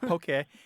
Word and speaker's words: poke: I have seen it have an accent on the E that is in correct I think people are being influenced by Pokémon um but poke and if you do